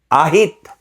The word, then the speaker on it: ahit: Is it a heat or a heat? Ah heat to shave. Ahit. Ahit. Ay naku. What? I never use that word.